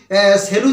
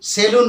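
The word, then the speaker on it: salon: আসলে my dear students এর উচ্চারণটা কিন্তু সেলুন নয় এর এর উচ্চারণটা কি বলতো এর উচ্চারণ হচ্ছে সেলন দন্তস ইকার ল দন্তন্য তাহলে উচ্চারণটা কিন্তু সেলুন হবে না দন্তস ইকার ল রসু দন্তন্য হবে না উচ্চারণটা কি হবে সেলন দন্তস ইকার ল দন্তন্য সেলন নিশ্চয়ই বুঝতে পারলে নেক্সট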